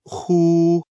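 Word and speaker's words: 呼: heart Meridian the pronunciation of who like the H in the English word Hoover the pronunciation is assisted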